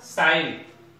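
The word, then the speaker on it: sign: For example शाइन एस आई जी टा में नाही बोल भाबी पढीबा साइन, सेमते ठी जी नाही बोल पढीबा रिजाइन, दिस इज रेन।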